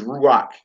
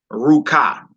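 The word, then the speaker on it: רוח: But the next word is ruach. Ruach. Ruach. It's ruach and not ruka. See that? Next word is ruach and not ruka. Even though the ket makes a ka sound.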